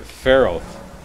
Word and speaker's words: Faroth: don't know what language but fort farrell is the way they said to pronounce it that's what i'm going